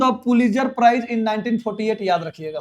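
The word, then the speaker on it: Pulitzer: Odean won द पुलित्जर प्राइज इन 1948, याद रखिएगा सर।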